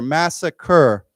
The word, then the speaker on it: massacre: Um so why don't we say together this is an interesting spelling but we always spell it this way. It's re so let's say together massacre.